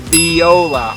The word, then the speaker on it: Viola: I've pronounced some Viola it's spelled like a violin but it's pronounced Viola I don't care how